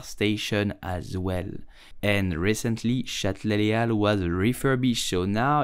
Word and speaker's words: Châtelet-Les Halles: You will simply say Châtelet-Les Halles. Châtelet-Les Halles. Châtelet-Les Halles. In French, the H is totally silent and the S of Halles is also silent.